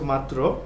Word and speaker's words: মাত্র: শব্দটির প্রমিত রূপ হচ্ছে মাত্র এবং এর প্রমিত উচ্চারণ হচ্ছে ম আকার ত হস চিহ্ন ত এর র ফলা ওকার তারপরের শব্দটি হচ্ছে তালি